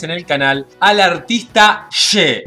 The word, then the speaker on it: Shé: No She, sino She. Que la primera vez que lo reaccioné le dije She pensando que era S-H-E de inglés. Pero en los comentarios me estuvieron corrigiendo diciéndome que se pronuncia She.